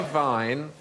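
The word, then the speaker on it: Wein: going to say Vine but the Germans say Vine and spell it with the w ah so why is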